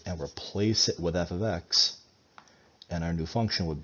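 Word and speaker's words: f(x): And this is pronounced f of x.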